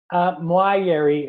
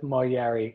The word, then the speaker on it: Moayeri: Moayeri is the proper way, but Moayeri. I also go with Moayeri. And my cousin always says, if people can say Fiona, they can say Moayeri.